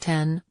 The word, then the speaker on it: iPhone X: X which Apple execs pronounced 10 not X it's super premium phone